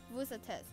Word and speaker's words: vous: Take note that vous is pronounced differently as to how it was stated earlier, because the word after vous starts with a vowel, so the S sound at the end of vous is heard.